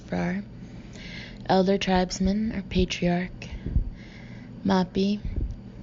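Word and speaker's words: Fraa: Fra, F-R-A-A, pronounced Frar.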